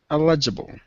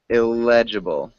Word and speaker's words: eligible: considered consider considered eligible eligible eligible elegible close we emphasize the first syllable eligible eligible eligible it sounds like you're saying illegible which is unreadable so we want to